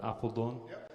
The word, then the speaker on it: Apeldoorn: League this season for Apeldoorn, if I'm saying it correctly. Yes, you did. Yeah, my friend don't say apple like the fruit.